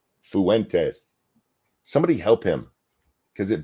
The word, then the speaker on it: Fuentes: just have to say I hate how British people say the word Fuentes they say Fuentes there's an extra syllable between the U and the e Fuentes somebody help him because